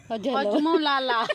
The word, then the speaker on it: হজমোলা: হ্যাঁ বলো হজমোলা, বলো হজমোলা। হ্যাঁ ঠিক ঠিক, একদম ওই উচ্চারণটাই ঠিক। বলো ঠিক করে বলো।